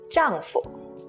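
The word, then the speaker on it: 丈夫: word to say husband but notice the foo here has a neutral tone which means it's breathe and Light jungfu with no toe mark so it's this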